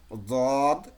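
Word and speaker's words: ض: তাহলে ওভাবে ঠেকিয়ে যদি আমি উচ্চারণ করি, তাহলে উচ্চারণ হবে দেখেন, দদ, দদ।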